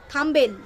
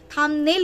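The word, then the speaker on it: thumbnail: উচ্চারণের মহারানী হচ্ছে আমাদের ম্যান্ডি রানী তো যে উচ্চারণকে বহুত বহুত মানে যেই জায়গা থেকে ইনকাম করছে সেই থাম্বনেইল বলতে পারতো না থাম্বেল থাম্বেল বেল বেল করে ওর মাথায় বেল ফাটিয়ে ফাটিয়ে আমি থাম্বনেইল করেছি তারপরে হ্যাংলুম হ্যান্ডলুম কে বলতে পারতো না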